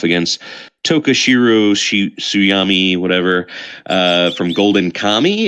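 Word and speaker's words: Golden Kamuy: Luffy from One Piece facing off against Tokashiro Suyami, whatever, from Golden Kami, it's pronounced. D, you said? it's Golden Kamu.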